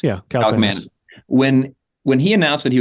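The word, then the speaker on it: Kaliakmanis: Kalikmanis. Yeah, Kalikmanis.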